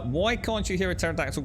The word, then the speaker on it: pterodactyl: can't you hear a pterodactyl go to the bathroom because the p is silent i like that